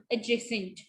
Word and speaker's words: adjacent: ठीक है, जब D और J इकट्ठे आते हैं तो D जो है वो साइलेंट हो जाता है. जैसे adjust, adjust, ड नहीं बोलेंगे. join, adjoin, ठीक है, adjoin, adjacent, adjoin.